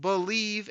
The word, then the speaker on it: Bleav: my other Lions podcast it's called believe in Lions that's spelled bleav on the believ podcasting